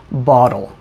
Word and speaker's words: bottle: you can hear that i said bottle because i'm american i use something called the flap t or the tap t where to make the t sound your tongue just goes up and